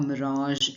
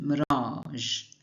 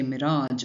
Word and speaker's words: mirage: For example, the tired traveler saw a mirage in the distance. Notice the pronunciation mirage. Don't say mirage or mirage. Keep it soft at the end.